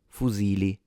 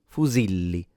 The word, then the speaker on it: fusilli: in the middle and there is a double L which produces a longer or stronger sound. So if there was only one L you would have pronounced it fuzili but because there are two you pronounce it fuzili.